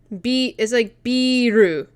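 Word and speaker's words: ビール: As like a generalization, and this is like biru.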